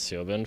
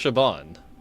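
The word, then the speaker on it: Siobhan: I have been pronouncing that name, that bartender lady's name as Sioban for such a long time, but I don't know if it was ever in main story. Uh, apparently it's pronounced Shabban.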